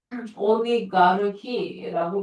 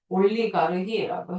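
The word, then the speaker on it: олигарх: 자, 그 다음에 이 단어는 사실 러시아어에서 나온 단어인데, 오리가르히라고 발음하거든요. 네, 재벌이란 뜻이에요. 음. 영어로는 oligarch예요. oligarch. 네, 근데 러시아어로 네, 올리가르히라고 해요. 자, 그다음 ironclad.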